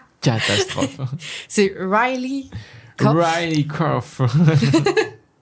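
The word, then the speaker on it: Riley Keough: La prononciation est une catastrophe. C'est Riley Riley Kof.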